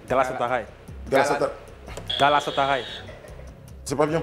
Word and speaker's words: Galatasaray: Galatasaray. C'est pas bien prononcé. Galatasaray.